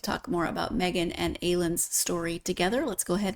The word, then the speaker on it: Aylun: And Aylun is how I'm pronouncing it, but how do you?